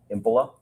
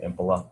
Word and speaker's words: Impola: Can you please state your name and spell it for the record? Sure. My name is Impila. H E N R I K. Last name Impila.